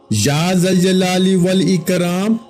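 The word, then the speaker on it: يا ذا الجلال والإكرام: یا ذل جلالی والاکرام۔ بعض لوگ اس کو کسی اور طرح پڑھتے ہیں، لیکن آپ کو جیسے تلفظ بتا رہا ہوں اسی کے مطابق پڑھیے گا، اسی ترتیب کے ساتھ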